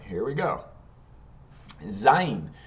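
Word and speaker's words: זין: Zayin. Zayin is the Z sound, and Zayin in English is spelled Z-A-Y-I-N.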